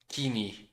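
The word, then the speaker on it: Koine: Greek Orthodox countries now use the coing dialect pronounced keen. Yeah. Keeni.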